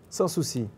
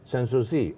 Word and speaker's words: Sans-Souci: Is it Sans-Souci? Sans-Souci. Sans-Souci. Oh, see, your pronunciation is so beautiful.